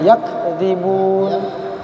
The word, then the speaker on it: يكذبون: Coba bilang ka. Ak. Nah, gitu. Dekatkan. Ada enggak aknya? Ak. Coba. Nah, itu yakdzibun. Nah, itu. Nah, coba. Jangan pakai ke.